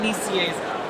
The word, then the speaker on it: Nicieza: Your uncle told me that I should check out your project with Fabian, how do you pronounce his last name? Fabian Nicieza. Fabian Nicieza, called Outrage, which is about a virus that attacks people who bully other people online.